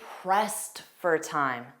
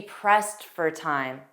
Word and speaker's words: pressed for time: So that for is going to be an unstressed fur. And pressed ends on a T, but it'll be very soft.